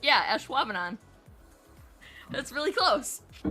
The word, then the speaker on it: Ashwaubenon: Schwabener? Actually, you're like, yeah, Ashwaubenon.